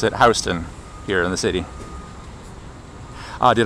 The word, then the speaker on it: Houston: the the large city in Texas, but we pronounce it Houston here in the city.